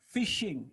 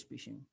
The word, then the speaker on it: phishing: so now what is fishing it's pronounced like fishing fish shaking pronouns like